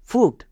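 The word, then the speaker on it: fruit: যেহেতু টিপসের মধ্যে পড়ছে না তাহলে ইউআই এর জন্য হস্যুকার সাউন্ড করব। যেমন এফ আর এর জন্য হয় ফয়েরোফলা, ইউ আই হস্যুকার মানে ফয়েরোফলা হস্যুকার, এবং টি এর জন্য টো ফ্রুট, এফ আর ইউ আই টি ফ্রুট।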